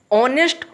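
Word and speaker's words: honest: दोनों में एन का प्रयोग इसलिए हुआ है क्योंकि जब दोनों का उच्चारण करते हैं तो वो हम वोवेल का उच्चारण आता है।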